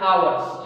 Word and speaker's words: hours: I told you hours. It is not hours. It is hours. It is silent here for 2 hours.